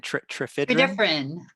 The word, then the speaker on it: Tredyffrin: Tredyffrin. Tredyffrin.